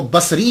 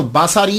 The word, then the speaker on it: بصری: وہ کہا جاتا ہے۔ لیکن ایک بات یاد رکھیے گا کہ جب آپ اس کو تلفظ کریں گے تو باساری نہیں کریں گے، سواد کے اوپر زبر نہیں پڑیں گے۔ اگر آپ نے سواد کے اوپر زبر پڑا، باساری بن گیا، تو اس کا معنی